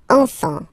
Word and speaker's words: enfants: Don't pronounce the T. You don't pronounce the S.